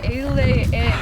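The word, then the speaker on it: A'Le'Inn: we're staying at the AL in a in Al in that's how you say it the AL in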